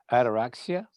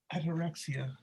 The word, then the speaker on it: ataraxia: I have two words for 2021: ataraxia and compassion. That's the only two things that are going to get us out of the hole. Ataraxia.